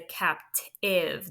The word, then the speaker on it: captive: that we've learned so the e is silent it should be crossed out and this is a